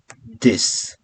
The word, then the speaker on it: dix: 10 is dix. Like you saw in 6, it's similar in 10. We have X, but we don't pronounce X. We pronounce just S. This.